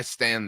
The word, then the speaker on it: stan: Like I stan this. So like you stan buttoning your collar all the way up. You know what I'm saying? Like spell it for me. STAN. So there's no D. It's Stan.